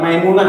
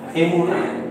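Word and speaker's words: אמונה: Nah, bukan maimunah ya, emunah. Itu iman.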